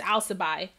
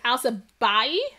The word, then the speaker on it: Al Sabahi: last name wrong because i thought it was just al sabai but it's al sabahi house of body so